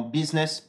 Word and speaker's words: business: Attention aussi au U qui a tendance à se prononcer I, comme par exemple dans « business »,« busy » ou encore « minute ».